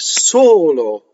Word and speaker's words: solo: So we have solo. Again, we have the Joe O, the closed O, and we have a single L. You can do this wrong by going solo, by letting the L phonate.